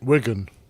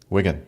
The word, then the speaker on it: Wigan: So, how how do you pronounce W I G- A, Captain Nick? Wigan. Wigan. Okay. Just as you would expect it to be.